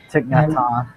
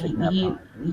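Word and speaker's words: Thích Nhất Hạnh: Thich And Nhat Hanh. yeah, It's Thich Nhat Hanh.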